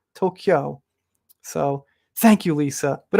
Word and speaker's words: Tokyo: people aren't gonna hear the native pronunciation they're gonna i don't know if people tokyo it's kyo there's no car tokyo so thank you lisa